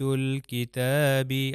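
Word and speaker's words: الْكِتَاب: اس کے بعد کاف، تو یہ میں لام کو ضرور تلفظ کروں گا اور یہ ہو جائے گا آیات الکتابی۔ اب دیکھیے میں اس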